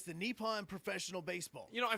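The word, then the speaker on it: Nippon: of of the baseball league so it is pronounced uh nepon so it's it's the nepon professional baseball you know I thought Nyon sounded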